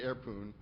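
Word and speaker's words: Airpwn: There's this utility airpoon, which I pronounce poon because there's no O in poon.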